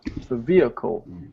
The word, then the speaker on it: vehicle: am i pronouncing right actually the h is silent it's a vehicle vehicle it's it's kind